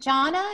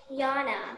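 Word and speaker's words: Jonna: good question is it johnna is that your name j-o-n-n-a um no you pronounce the j like it's a y juana no yana donna sorry okay sweetie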